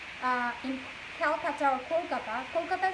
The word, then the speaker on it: Kolkata: in calcutta or kolkata kolkata is the right pronunciation they change it to